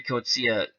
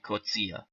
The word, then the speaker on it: Coetzee: and again when Harry cozia came to America he changed his name to Jerry to make it more easy to pronounce but his true pronounced pronunciation of the name is Harry kutzia his record 33 wins